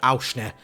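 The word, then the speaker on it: Aursnes: So moving into midfield, we picked up our Norwegian Swiss Army knife, Fredrik Auschner.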